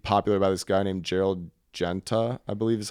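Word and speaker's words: Gérald Genta: This is super popular in the 70s, and it was made popular by this guy named Gerald Genta, I believe is how you say his name.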